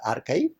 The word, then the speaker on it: arXiv: second example is archive it is spelled as arxiv but pronounced as archive that was started in